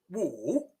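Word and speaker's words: 武: as in marshal arts it has a third tone so it is pronounced wo and if you combine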